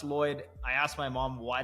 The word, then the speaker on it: Lloyed: My name has an E in it. So double L O Y E D. And it's actually pronounced Lloyd.